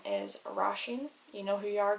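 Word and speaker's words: Róisín: i with the father um her name is rasheen you know who you are girl her name is spelt or o i s i father n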